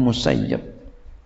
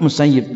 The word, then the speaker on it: Musayyib: di catatan kakinya Hai yang ditarget disitu adalah bacanya mustajib Hai kalau Abi Said musayyib dan kalau selain abis Yi habis Said bukan musaid saya Hai alakulihal perbedaan Rohmah